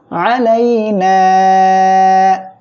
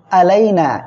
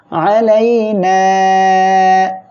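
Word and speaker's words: عَلَيْنَا: তাহলে আমরা এখানে বলবো আলাইনা। অনেকে কিন্তু এখানে উচ্চারণ করেন এমন আলাইনা, এটা কিন্তু ভুল হবে। আমরা আইনটা গলাটা চেপে উচ্চারণ করব আলাইনা।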